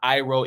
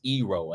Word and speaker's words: Iroh: So it was not Aang, it was Ong. It was not Sokka, it was Soka. It was not Iroh, it was Ero.